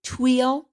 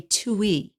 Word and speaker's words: tuile: would say in America, or a tuile if we were in France. And it is French for roof tile. It is spelled Tuile, tuile. I just say tuile in English, but it uses high amounts of fat and sugar.